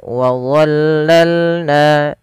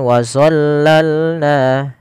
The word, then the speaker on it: ظللنا: Pada lafal wadzallalna, hati-hati teman-teman di dalam melafalkan huruf dha. Jangan sampai kita membacanya dengan zo. Jangan dibaca dengan wazallalna, karena di sini ini bukan huruf dha. Maaf, bukan huruf zo, tapi dia huruf dha.